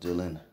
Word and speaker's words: Dillion: his name is bill d-i-l-i-d leon but it's pronounced dylan dylan hacker man recipes he had passed away